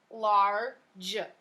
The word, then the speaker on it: large: The G usually makes the g sound. But when the G is next to an E, it makes a j sound. So in this case, it is GE at the end of the word. So the word is large.